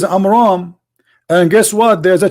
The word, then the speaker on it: Amram: So the correct name is Amram.